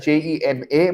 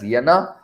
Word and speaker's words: Jena: to university of uh it is spelt as jena but it is pronounced as yenna he went to the